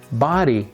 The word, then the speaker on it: body: or one for people body it would be pronounced like buddy somebody anybody right uh